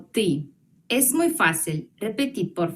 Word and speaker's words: ты: Tú se pronuncia como ты.